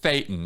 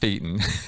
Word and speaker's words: thetan: the other thing is it's Satan not thetan ah yes important yeah yeah and the way to remember that is it rhymes with Satan and that's not a